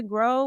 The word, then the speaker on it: Gro: So my Instagram is Grow with Kaitlyn, but it's spelled GRO and then with Kaitlyn with a K.